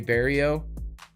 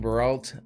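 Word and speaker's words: Marc-André Barriault: And then we get to, which I was saying his name wrong the whole time. It's Marc-Andre Barrio. I was saying Baralt.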